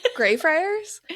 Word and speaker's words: Greyfriars: Greyfriars? Yeah, like a gray friar.